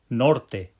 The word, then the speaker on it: norte: Norte nor. Did you hear those two syllables with the pow syllable on the nor?